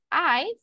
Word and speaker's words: eyes: eyes this word guys eyes we pronounce it like this imagine ice like that ice I eyes very good or this